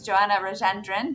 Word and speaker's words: Joanna Rajendren: It's Joanna Rajandrand, if i pronounced your name correctly.